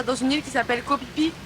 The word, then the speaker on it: Koh Phi Phi: une île qui s'appelle copipi ou kofifi mais ça s'écrit pH mais ça peut être que kopipi he bah oui bah c'est copipi on va copipi je